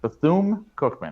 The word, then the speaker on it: Bethune-Cookman: We talked about Ed Reed taking the job at, correct my pronunciation again, Evan, if I get it wrong, Bethune-Cookman. Bethune-Cookman, right?